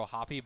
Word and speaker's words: O'Hoppe: what I will say, O'Hoppe, you have to pronounce the E, where with Volpe, you also have to pronounce the E. What's up with that? Speaking of Volpe. I was expecting it to be Volpe, and I was expecting it to be O'Hoppe, but no, you have to pronounce the E for both of them.